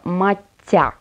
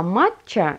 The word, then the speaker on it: матча: растертого чая правильно произносится мать тя без буквы ч ударение в этом слое падает на второй слог мать а то есть в общем вот а матч а это допустимая разговорная форма